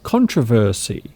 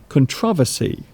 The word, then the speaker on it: controversy: So there's an interesting word, controversy or controversy. So you can actually pronounce that word in two ways. Controversy, controversy.